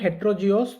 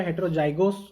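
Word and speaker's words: heterozygous: Okay jokes apart next आसीबा हमें हेटेरोजियस। तो what हेटेरोजियस बा हेटेरोजाइगोस। Okay sorry हेटेरोजाइगोस। Okay first होमोजाइगोस then हेटेरोजाइगोस। सो ठीक है प्रोनाउंसिएशन मिस्टेक मे बी।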